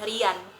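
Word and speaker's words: เรียน: Kalau dalam bahasa Inggris eh mungkin penyebutannya seperti telinga. Ear ear. Iya, iya. Dan bila di ee sandingkan dengan roa konsonan r re dibaca riya riya riya. Dan ini adalah konsonan nu n akhirnya dibaca dengan rian.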